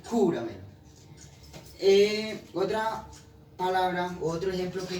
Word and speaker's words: júramelo: Es decir, el acento va en júramelo.